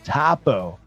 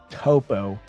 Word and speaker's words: Tapo: guys stick around um it's pronounced Tapo okay Tapo Tapo see I always thought it was toppo when you say it